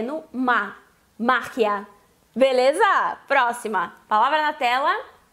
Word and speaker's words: magia: Essa é uma palavra heterotônica, ou seja, que ela muda a sílaba tônica do português para o espanhol.